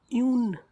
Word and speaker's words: une: Try to learn its pronunciation. It's un. And for feminine and singular it is une. It is une.